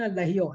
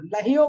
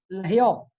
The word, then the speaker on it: लहियो: बालपने में ज्ञान न लहियो, लहियो बोलना है इसको, लहो नहीं। कुछ लोग लहो बोल देते हैं या लयो बोल देते हैं, लयो नहीं, लहियो।